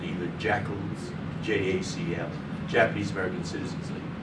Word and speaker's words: JACL: people were called either jackals, JACL, Japanese American Citizens League. The initials JACL could be pronounced jackal when you pronounce that, or inu, the Japanese word for dog.